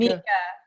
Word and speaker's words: Meika: So how do you pronounce your name? Is it Meika? Mika.